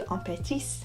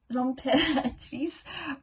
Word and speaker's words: L'Impératrice: Stranger Things soundtrack, then I'd recommend listening to Impératrice. I pronounced it wrong. It's L'Impératrice? L'Impératrice? L'Impératrice.